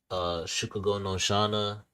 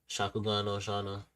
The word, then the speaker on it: Shakugan no Shana: Shukugo no Shana, Shakugan no Shana. I said it wrong.